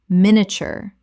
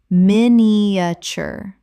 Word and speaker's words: miniature: Miniature. Common mispronunciation. Min-i-a-ture. Correct pronunciation. Min-i-a-ture. Three syllables in natural speech. The middle collapses dramatically.